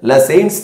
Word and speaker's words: Lassaigne: and the phosphorus using la saints test lassens test g with a silent and laser test sodium